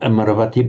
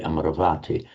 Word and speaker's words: Amaravati: So the abode of the immortals or the abode of im immortality and with the with the lengthening before that not Amaravati but Amaravati.